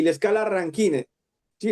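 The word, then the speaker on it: Rankine: Que es la escala Kelvin, como vemos aquí, y la escala ranket, ¿sí? Ranquín se llama o se pronuncia, ¿no? Porque para nosotros en español es ranquin y la escala Kelvin.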